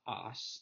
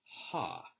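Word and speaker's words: ὁ: So in the nominative singular, it's not os, it's ha.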